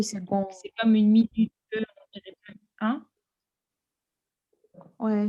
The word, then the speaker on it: minute: C'est comme une minute, on dirait pas. Hein? Ouais, donc c'est la deuxième syllabe qu'il prononce plus fort. Minute.